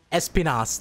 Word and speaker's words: Espinas: Espinas. That's how you pronounce it.